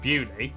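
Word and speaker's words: Beaulieu: Starting in Biaulio, Beauty, head over to Rampisham, Ransom, then down to Mousehole.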